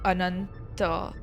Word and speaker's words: Ananta: It's in in Sanskrit it would be ananta. It wouldn't be it like ananta is different.